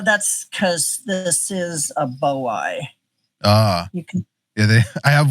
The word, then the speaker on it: boiei: Yeah, Heteropoda boiei. Yeah. I was always, I think I pronounced it once in a video, Bowie, and people were like, no, that's not it.